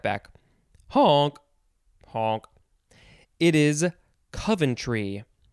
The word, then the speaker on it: Coventry: i take that back honk honk it is coventry coventry or coventry capital c-o-v-e-n-t-r-y noun from 1765 a